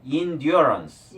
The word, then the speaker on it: endurance: 자, 세 번째 endurance. Endurance. 네, 이거 발음 조심하셔야 돼요, 여러분들. endurance가 아니라 endurance입니다. 그리고 endurance가 아니고 이 u 있죠? en이 in이고 du, u를 약간 길게 발음하셔야 됩니다.